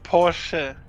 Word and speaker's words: Porsche: The name is Porsche because it's a German car and the name is German, and German does not have any silent letters.